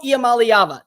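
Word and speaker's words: Iamaleava: and not in the postseason next up Nico yam malava that's how you say his name don't miscorpion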